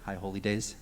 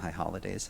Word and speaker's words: High Holy Days: High Holy Days? High Holy Days, not High Holidays.